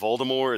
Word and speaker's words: Voldemort: The only thing I know is that the T at the end of Voldemort is not supposed to be pronounced.